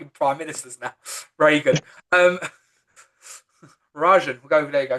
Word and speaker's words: Rajan: Rajan. So it's spelled R E J A N.